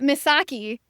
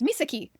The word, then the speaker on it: Misaki: This is an a narrator problem. Kept saying Msaki. And every time I have seen that word, that name spelled and when I've watched Japanese shows, it's Misaki.